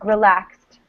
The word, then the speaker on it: relaxed: does this make relieved you can notice it even more with this word relaxed relaxed right we don't say relaxed we say relaxed so it's a clear t sound here and here written